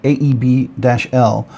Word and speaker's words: AEB-L: precursor to 14C28 and AEB-L, or ABLE, sometimes people pronounce it by AEBL, steel.